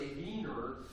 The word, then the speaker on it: Wiener: a wiener Festival in in German uh the name for Vienna is v w i n and so a Wier or they would pronounce a vener would be a person that lives in Vienna so it was you